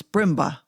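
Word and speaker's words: Brindlebury: name ma'am he replied is b r i n d l e b u r y brindleberry pronounce brimma the old Sussex name with which ma'am I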